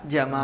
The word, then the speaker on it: Jamal: Padahal sebenarnya dari kata apa? Jamal. Jamal. Jamalan. Ini orang Mesir. Tapi kalau orang Yaman beda lagi. Jadi apa? Pernah saya sampaikan apa ya? Jadinya Yamal. Yamal.